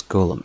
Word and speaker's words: Golem: He asked to be referred to by the last bit, which is of course Golem. So, oh, it can talk. Okay. Much to his surprise, this ends up being pronounced like Golem anywhere.